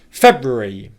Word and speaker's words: February: What tends to happen is the third R syllable and then the final E syllable join up and sound like they're one syllable. So if I say the word quickly how I would say it in British pronunciation, February, February, February, February, that and E sounds like it becomes re, okay?